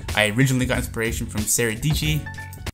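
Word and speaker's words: Sara Dietschy: originally got inspiration from saradici rhymes with peachy is that how it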